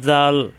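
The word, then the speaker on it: ذال: আজকের ক্লাসে আমরা শিখবো জাল জাল নরম করে উচ্চারণ এই যে জালের মতই উপরে নক্তা দিলে হয়ে যায় জাল জাল জিহ্বার আগা উপরের দাঁতের আগায় লাগিয়ে নরম করে উচ্চারণ করতে হয় জাল এটাও জাল এটাও জাল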